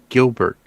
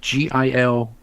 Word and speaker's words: Gilbert: I said no, it's Gilbert, and she goes, oh my god, and I was like, it's Gilbert, Gilbert, and she said, so what did I say?